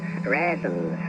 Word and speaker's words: reasons: Take the one you mentioned a few moments ago, Michael, raisins and reasons, both raisins in Shakespearean times.